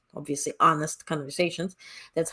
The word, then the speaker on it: Onest: This new series called, obviously, Onest Conversations. That's how we pronounce the whole name, ONEST.